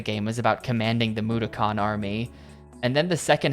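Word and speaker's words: Mudokon: I The characters in the game kept saying Makan, but I can't make myself say that. That's wrong. The game is pronouncing it wrong.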